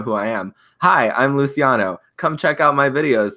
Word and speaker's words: Luciano: in a live stream I asked you what how you pronounced your name and you told me it was Luciano it is Luciano I said he just